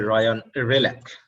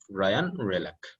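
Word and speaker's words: Ryan Hreljac: এটা হচ্ছে রায়ান রেলাক। আমরা একটু উচ্চারণে খেয়াল রাখবো, এইস এবং জি এর কথা বাদ গেছে, অতএব স্পেলিং অনুসারে প্রনাউন্সিয়েশন হয়নি। আমরা এখানে নামটি জানবো, রায়ান রেলাক।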